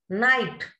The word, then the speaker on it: night: Night, G and H, two letters are silent.